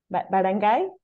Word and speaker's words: barangay: bad and gay or how do you pronounce it barangay barangay barang yes bangai barang